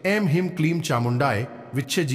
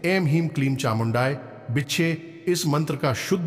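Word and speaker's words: ऐं ह्रीं क्लीं चामुण्डायै विच्चे: बार सुना होगा तो ध्यान से सुने एम हिम क्लीम चामुंडाय विच्छज हां दोस्तों एक बार फिर से सुने एम हीम क्लीम चामुंडाय विच्छेद उच्चारण करना है गलत उच्चारण नहीं करना है यदि आप पूरे भाव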